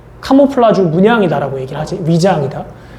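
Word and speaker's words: camouflage: 들어본 적 있지 않니 카모플라주 우리나라 말로 많이 하는데 카모플라주 그니까 우리나라 식 발음이고 라지가 실질적인 발음인데 위장이 뜻입니다 위장 이 위장이게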